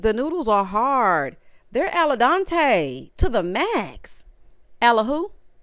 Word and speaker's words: al dente: They're al dente to the max. Alla who? Girl, who the hell is Dante? Who the hell is Dante? Girl, it's al dente, not al dente.